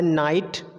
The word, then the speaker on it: know: बहुत सारे ऐसे वर्ड होते हैं, एग्जाम्पल के लिए मैंने यहाँ मेंशन किया हुआ है नाइट, नो, नाइट में के साइलेंट है, हम सिर्फ NIGHT नाइट प्रोनाउंसिएट कर रहे हैं।